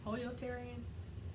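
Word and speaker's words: pollotarian: pollo Terry in which I think it really is supposed to be pronounced polio terian technically and then flexitarian Hesco pollo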